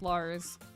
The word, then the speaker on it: Liz: But then when I learned of the character, um, I changed it to Lars, but it's spelled like Liz, but it's pronounced Lars.